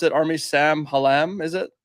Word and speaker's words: Sam Hallam: And then the second half of that is how do you pronounce it? Army Sam Hallam, is it? Sam Hallam, yep.